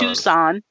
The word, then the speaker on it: Tucson: How do you pronounce it? Tucson. Tucson.